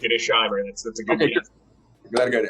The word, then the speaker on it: Shimer: and 100 Years of covert electoral interference shimer joins well first of all am I pronouncing your name correctly that's correct it is Sher that's a good GL how are you um